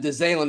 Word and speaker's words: DeZalen: Yeah, and DeZalen is his name. I mispronounced his name when we talked about him the first time, but DeZalen Worsham.